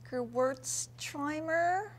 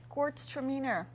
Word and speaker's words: Gewürztraminer: Heather, I want to call it Gewürztraminer. Pretty close. Okay, let's take the word Gewürztraminer and split it into two words. Okay. So let's go Gewürztraminer. Gewürztraminer. Okay. Gewürztraminer, you got it. Gewürztraminer.